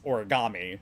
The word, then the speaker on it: origami: also we definitely well first off the correct pronunciation is origami that's there's not a a sound in uh